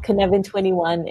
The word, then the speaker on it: Cynefin: so if you're interested uh do google that kinevin21 and join us to find out more about